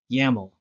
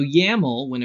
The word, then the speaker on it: YAML: YAML. We're on to YAML files. What is YAML? Proposed by Clark C. Evans in 2001 as an alternative to XML. It rhymes with camel.